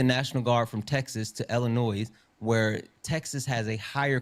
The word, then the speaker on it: Illinois: And and Illinois. I'm sorry, Chad. But I know I have a bad habit of saying Illinois, but Illinois.